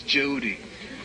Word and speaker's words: Jehudi: Yeah, but it's they're not said to who he is, Jehudi. That's how it's pronounced.